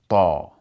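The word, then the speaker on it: ط: learn is the letter ta. And the letter ta, it sounds like a heavy version of T. So think, for example, about the English word tall. How do we pronounce that A in the word tall?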